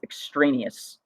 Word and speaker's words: extraneous: with what are called the way we pronounce this word is extraneous and you'll notice a word in there extra so we're kind of